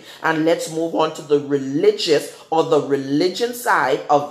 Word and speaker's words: religio: for religion okay ah the word religion in the Latin word is pronounced as religion it adjusts Arielle I G I know just religion or just religio Amen or however you want to pronounce that that's how it's pronounced in Latin and the definition for